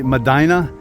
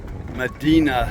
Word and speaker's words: Medina: The locals say Medina, but it's named after Medina sandstone.